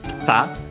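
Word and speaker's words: 来た: So, by the way, the I becomes barely heard at all because it's between a voice consonants.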